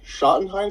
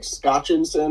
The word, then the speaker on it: Schottenstein: But I'm also glad that you know how to pronounce the Schottenstein Center, because I was going to say like Scotchensen or something. Scotchenstein.